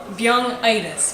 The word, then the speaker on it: Byung-itis: the activity is called Byung-itis, which is byung is disease in Korean. I said it right.